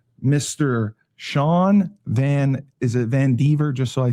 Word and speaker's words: VanDiver: Is it Van Diver? Just so I say it correctly. Van Diver. Van Dyver. Van Diver. Okay. I'm bad with pronunciations and uh annunciations.